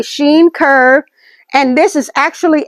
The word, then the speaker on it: Shein: That's she or Shein. Some people pronounce it Shein, but a Shein or a sheen curve.